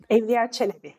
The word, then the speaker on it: Evliya Çelebi: Apologies, Ebru, for pronunciation, but Evliya Çelebi, perhaps? Is that? Evliya Çelebi, yes.